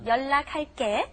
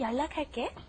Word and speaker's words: 연락할게: Just pay attention when you see an L and an N in either order coming together. Remember, it's double.